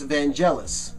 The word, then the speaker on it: Vangelis: entire thing is vangelis now there's a commonly mispronounced name in music the I become bangle s or vangelis but it's vangelis the reason that I know that is because